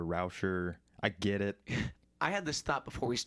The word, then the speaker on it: Reuscher: rouger you know I mispronounced your last name no that's right a lot of people mispronounce it it's it's all right it's I hear reuter I hear rousher I get it I